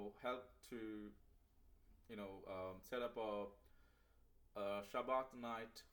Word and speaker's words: Shabbat: to set up a Shabbat night. In Ashkenazi they say Shabbos, whatever you name it, but I use the Sephardic pronunciation, like Shabbat night.